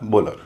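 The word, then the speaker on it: bowler: बी ओ डब्ल्यू एल इ आर बोलर। इसमें भी stress जो है शुरुआत के हिस्से में है इसलिए उसका उच्चारण बोल हो रहा है।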